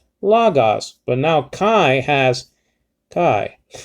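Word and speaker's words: λόγος: see lagas see you so you're rising uh your pitch over the omicron the first omicron the first o in lagos because that's an acute marker so you rise the pitch of your pronunciation logos but now kai has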